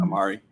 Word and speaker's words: Omari: And Omari Hardwick. Is that how you pronounce his name? Mhm. Amari.